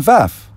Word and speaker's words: Pfaff: Play a Kristen Pfaff song. Find out that she's a prodigy cellist like me. Find out who she is. It's spelled P-F-A-F-F. Pronounced F. But one of the F's is silent.